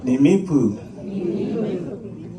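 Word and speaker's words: Nimíipuu: So first you say ni, me, poo, Nimipu.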